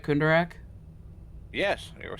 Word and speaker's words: Kundarak: about house kundarak am i saying that right kunderack yes they were saying it right that was